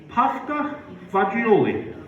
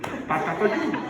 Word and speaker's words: fagioli: And every Friday, you had pasta fagioli. Let me spell that for you. F-A-G-I-O-L-I. Pasta fagioli. No. Wrong again. Pasta fagioli. What the hell? F-A-Z-Z-U-L-E? Fagioli.